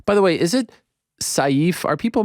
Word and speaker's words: Sayif: you said it right it's safe that's the correct pronunciation in Arabic it means sword so safe like safe that's that's how you say it yeah you got it